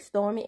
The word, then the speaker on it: Stormi: Episode 8, Beyond Scared Stormy. And yes, I pronounced the Y because I had a real English teacher in the 8th grade, and the Y is supposed to be pronounced according to her.